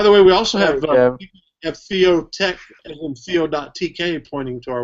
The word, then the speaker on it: Theotek: You can find us by searching for Theotek. By the way, that's Theo as in theology, Theo, T-H-E-O, and T-E-K, not C-K, C-H, but T-E-K at the end of it.